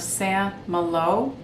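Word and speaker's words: Saint-Malo: want to mention is called the librarian of san malo which is spelled s-a-i-n-t-m-a-l-o by mario escobar i gave this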